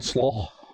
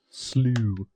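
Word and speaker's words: Slough: Canyon Slaw. Not slaw, Steven. Canyon Slaw. You pronounce it right. Slew.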